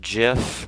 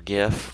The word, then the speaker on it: GIF: what else a png obviously uh a compuserve gif or gif whatever you want to pronounce it as and those are the most